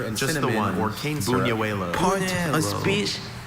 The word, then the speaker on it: buñuelo: Buñuelo.